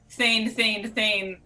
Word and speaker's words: Theyn: It is pronounced Thane again.